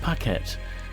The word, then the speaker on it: Paquette: Paquette, it's pronounced Paquet, just could not shake off the unnatural sense of foreboding that had enveloped her since she awoke.